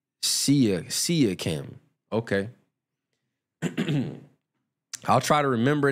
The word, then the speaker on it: Siakam: You said it's pronounced Siakam.